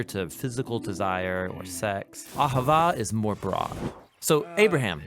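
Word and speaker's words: אהבה: languages as it is in ancient Hebrew it's pronounced Ahava it most basically refers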